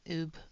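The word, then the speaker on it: ube: And then we're going to come in with Oob, or yeah, Oob Purple, number 20. Thank you, Alex. And we're just going to do the shadows in the Oob. Oobe. That's Oob. It's U-B-E. It's Oob.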